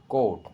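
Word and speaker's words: caught: Fourth word है बच्चों कोट। कोट मतलब पकड़ा। यहाँ पर भी बच्चों जी की साउंड नहीं है, तो जी यहाँ पर साइलेंट है।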